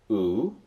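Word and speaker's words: ου: A-E-I-O, there is a O-U, omicron upsilon, that's pronounced U, as in moon.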